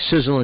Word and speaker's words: Sisel: is about our company sizzle International pronounced like sizzle as in a sizzling hot steak on the barbie sizzle actually spells their